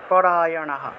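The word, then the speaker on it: পরায়ণাঃ: আসে তাহলে প্রাণায়াম অপরায়নাহ বিসর্গ থাকায় হ উচ্চারণ পরায়নাহ আর বিসর্গের আগের অক্ষের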